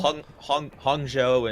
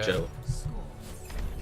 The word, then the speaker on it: Hangzhou: So they both just Chung and Han, like they're just the same syllable. Hangzhou and Chengdu, like it's more of a ah sound. Gotcha. Hangzhou.